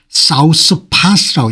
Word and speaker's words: 사우스파스: 사우스파스라고 읽네요.